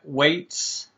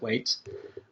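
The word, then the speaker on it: Weitz: credits go to uh chris weights w-e-i-t-z weights i'm going to pronounce it wait um tony gilroy who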